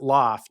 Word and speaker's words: L0pht: We spell it that way because that's hacker elite speak. Like, Yeah. hackers were Loft, the yeah? first ones with online culture, Yeah. right? So we pronounce it loft.